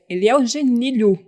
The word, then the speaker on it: Genilhu: Hoje estamos aqui com o Eliel Genilho. Isso, é isso, né? Correto, acertou. vamos entender a pronúncia aqui antes, né?